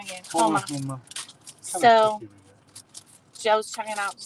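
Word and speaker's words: Houma: She said we're 15 minutes from Huma. We're 15 minutes from Huma. Homa. I said it wrong again. Homa.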